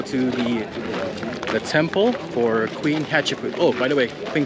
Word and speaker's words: Hatshepsut: I think I got it. Hatshepsut. Hatshepsut. Hatshepsut. There you go. That's how you pronounce it.